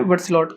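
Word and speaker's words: Berthelot: Pronunciation देख लेना, बर्थलॉट कहते हैं, ठीक है।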